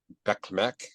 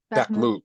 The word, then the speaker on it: Bakhmut: And Russia is launching a counterattack near Soledar and Bekmek or Bekhek or Bekmek. I can't No, pronounce it. Bakhmut, Bakhmut. Thank you. Bakhmut.